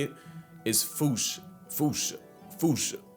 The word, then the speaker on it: fossa: to say it is foo. Foo fooch. Like foo with a performance anxiety uh at the end. Experts feel free to correct me, but apparently that is the closest to the OG Malagasi pronunciation.